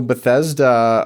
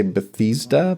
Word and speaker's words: Bethesda: And I know Bethesda um they released uh some people say Bethesda, but I always say Bethesda. Well, I pronounce it like the city that they're founded from.